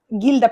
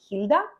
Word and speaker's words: Gilda: Gilda pinchos. I think they're pronounced hilda, but I'm not entirely sure.